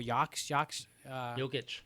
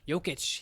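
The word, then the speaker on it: Jokić: You also have how do you pronounce that guy's name? I told you before. Jokic. Jokic.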